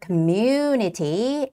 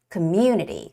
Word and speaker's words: community: and the last word Community the stress goes on the vowel U community community and as always